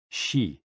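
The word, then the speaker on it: xi: with the spleen and x-i pronounced like she which connects the whole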